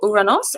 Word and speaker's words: Uranus: Now, this one, you will need a telescope to be able to see this one, because the planet Uranus, or Uranos, as the Greeks pronounced it, is going to be nice and close between Mars and the waxing moon.